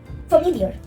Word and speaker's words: familiar: Familiar. It is also it is a trisyllabic word. Fam, ill, year. Again pronounce this word familiar, familiar, familiar. So you can understand that the second part has more stress.